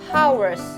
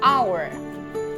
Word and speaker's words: hour: saya nggak bilang cukup hours hak itu enggak dibaca Memang betul ada huruf H hot ada huruf H di depan tetapi itu tidak dibaca Hour Hour kodok2 cuk cuk